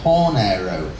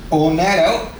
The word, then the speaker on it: hornero: She told me you drop the H and it is pronounced oro. There you go. So, Rufus Orro. Now, where does the name come from? Well, Ornero, as I am informed, is Spanish for baker or oven.